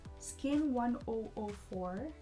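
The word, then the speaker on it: SKIN1004: Rose and Charlie explained that when you pronounce 1004 in Korean, it sounds the same way as the word angel, or chonsa to be exact.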